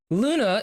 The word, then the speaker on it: Glüna: Glüna, which is spelled as Gluna or Gluna, but it's a silent G and we cannot pronounce the umlaut.